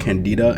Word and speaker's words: Candida: It's not called Canada. It's called candida.